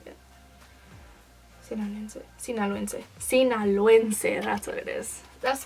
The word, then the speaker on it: Sinaloense: I was born in Culiacán, Sinaloa, so I'm Sinaloense. I think that's how you say it. Sinaloense, that's what it is.